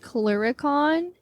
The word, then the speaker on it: clurichaun: basically I'm covering the I think it's pronounced clericon it's c-l-u-r-i-c-h-a-u-n um and